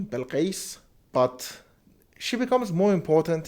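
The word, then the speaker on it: Bilquis: same is true for bill quist or as you know we call it an arabic persian pronunciation bell case but she becomes more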